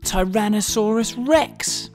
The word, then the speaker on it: Tyrannosaurus rex: most famous dinosaur ever Tyrannosaurus Rex how do you say that again ty ran no saw Russ Rex it's often called t-rex